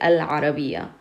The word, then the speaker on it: العربية: And in this one you have ayn, and ayn is qamari. It doesn't use your tongue. Therefore you pronounce the al. We say al-arabiya.